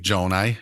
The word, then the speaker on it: Gjonaj: my name is Joni and I know the spelling is more intimidating than the actual pronunciation but uh I'm a